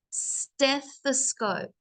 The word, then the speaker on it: stethoscope: And Edward's team, again, they're talking about, now you might have some issues pronouncing this, so I'll say it for you guys, stethoscope.